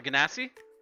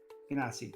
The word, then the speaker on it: Genasi: I can't think of how you pronounce it. The half elemental people. Oh, the Ganassi? Genasi, that's it.